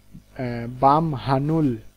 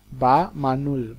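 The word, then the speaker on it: 밤하늘: পরেরটা দেখি, যে বাম হানুল, বাম হানুল হওয়ার কথা ছিল কিন্তু মিউমের পরে হিউত আসার কারণে হিউতের উচ্চারণটা উজ্জ হয়ে যাবে এবং মিউমটা হিউতের জায়গায় চলে যাবে, কি হবে? বাম, বাম মানুল, বা মানুল, বা মানুল।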